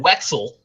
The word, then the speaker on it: Wetzel: From Jason Wetzel, whose name is pretty awesome because it rhymes with pretzel.